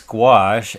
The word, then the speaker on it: gouache: And a lot of people always ask, it's like, what is gouache and how you pronounce it? Well, it's gouache and it is opaque watercolor.